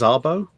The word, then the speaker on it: Szabo: The best one I've heard is that it's like the guy who wrote, I think it's Szabo, I think is how you pronounce it.